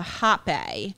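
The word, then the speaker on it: rapé: I got so sick from the hape. Oh yeah, it's spelled RAPPE, and it's like a powder, like it's like a tobacco mix that they blew up your nose one nostril.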